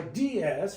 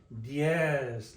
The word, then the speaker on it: diez: We are not saying seis, or siete, or diez. We're saying diez, like one syllable, diez.